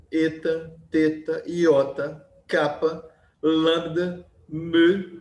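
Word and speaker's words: μῦ: teta, iota, kappa, lambda, mu. A gente fala mi, mas a pronúncia é melhor. Mu é uma coisa meio francesa, a mistura de u com i, é mu.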